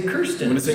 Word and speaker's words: Kirsten: like an ear. So I'm Kirsten.